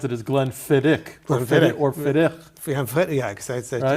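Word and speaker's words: Glenfiddich: our viewers that uh the right way to pronounce it is Glenn fiddick yeah it's a Gaelic uh that's funny because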